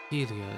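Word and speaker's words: Hylea: Helia, as it's pronounced, goddess of the sky, maternity, creativity, birds, song, invention, language, and the arts.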